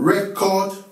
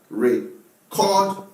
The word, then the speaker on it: record: Bring that book so that you can record. Bring that book so that you can record yesterday's event. This is the record of what happened yesterday.